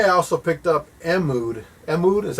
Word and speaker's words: Mood: Mood is how you say it, the guys that made Juicy Fruit, Mood.